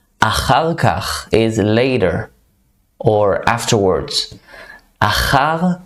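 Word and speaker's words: אחר כך: Achar kach. Another hard word to pronounce with all the ch sound. It's like a mucus sound. Achar kach is later or afterwards.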